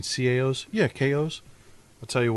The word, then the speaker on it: CAO: Hey, I'd like to get a box of KOs. You mean CAOs?